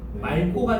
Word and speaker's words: 맑고: 기억을 만났으니까 맞고가 아니고 뭐가 돼? 말고가 되는 거지. 왜냐면 두 번째 점에 보면 다만 기억 앞에서선을 리을이 된다 그랬잖아. 맞지? 그러니까 말고가 돼요.